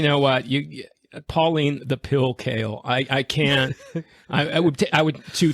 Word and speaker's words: Kael: So Pauline Kael, I think that's how you pronounce her last name. Yes, it is.